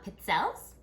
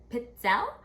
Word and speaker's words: pizzelle: the cookie unit so today we are making pit sells and it's a Italian waffle cookie and it's actually pronounced pizza all right singular would be a pizza la